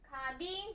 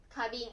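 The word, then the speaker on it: 花瓶: る瓶のことなので、花瓶と言います。花瓶。ね、花瓶。ね。花見、花火、花火、花束、花瓶ですね。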